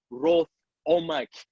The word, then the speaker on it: Rwoth-Omack: But yes, I'm talking to my special guest, actor, writer, Rwoth-Omack. Did I pronounce it properly, boss?